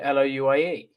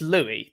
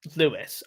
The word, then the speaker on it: Louis: and union stuff because to me that's louis that's not lewis i understand the american pronunciation of it because they have stuff like saint louis that's how they say louis i get that i'm